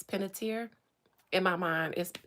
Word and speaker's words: Panettiere: It is another reason I don't want to talk about Hayden Panettiere's death.